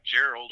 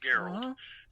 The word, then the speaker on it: Gerald: real name is gerald it's like gerald oh it's pronounced geralt and my last name